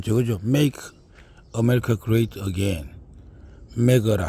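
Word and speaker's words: MAGA: 메거라 하죠. 뭐 보통 마가라 하는데 미국식 발음은 메거가 됩니다. 저도 마찬가지로 우리 대한민국을 위대하게 만들겠습니다.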